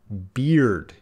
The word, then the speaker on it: beard: Beard. Yeah, they're going to have different pronunciations. Bear, beard. Don't be confused by the spelling. They're very different vowel sounds.